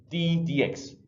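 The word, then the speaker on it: d/dx: differentiation the process is to notify this notation d DX T over DX so it usually pronounced just D DX this is a number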